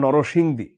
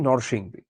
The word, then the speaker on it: নরসিংদী: হ্যাঁ, এটা শুদ্ধ উচ্চারণ নরসিংদী, কিন্তু আমরা এটার প্রচলিত উচ্চারণ কি নরসিংদী।